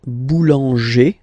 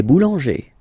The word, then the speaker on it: boulanger: Then we've got this group, like boulanger, boulanger, ER.